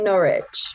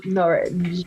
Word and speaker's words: Norwich: we pronounce over here norwich which is a very english way to say it so norwich which softens all of